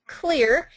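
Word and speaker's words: Xlear: the nasal spray clear it is pronounced clear even though it's spelt with an X and it was designed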